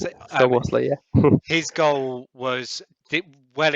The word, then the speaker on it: Szoboszlai: Can you describe I know that in your playoff final against Iceland, Szoboszlai, I think that's how you pronounce it. Szoboszlai, yeah.